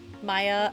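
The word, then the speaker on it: Maia: And it is spelled M A I A. Maya Legacy.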